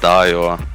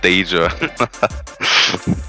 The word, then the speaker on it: Dajor: My name is pronounced Dayo with 10 A's and not Danger.